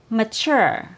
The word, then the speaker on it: mature: Sometimes the T or the consonant T has a CH sound, like in the word mature. It has a CH sound, like in the word chip, mature. So the letter T doesn't